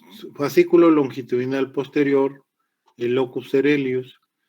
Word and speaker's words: coeruleus: Se escribe como se oye locus, pero se escribe coeruleus.